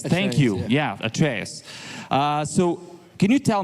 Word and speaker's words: Atreus: the god of war and your character right arus it's called yeah yeah because I really want to get my pronunciations correct trus yeah at trus thank you yeah at trus uh so can you tell me how you